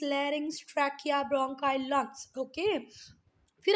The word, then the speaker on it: larynx: इसको ये स्पेलिंग के ऊपर नहीं जाना बेटा, इसको पढ़ते हैं फेरिंग्स, ये लैरिंग्स, ये ट्रैकिया, ब्रोंकाई, लंग्स.